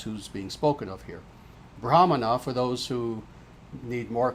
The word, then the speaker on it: Brahmana: So, therefore you will have Brahman, you will have Brahma, you will have Brahmana, sometimes mispronounced Brahmin.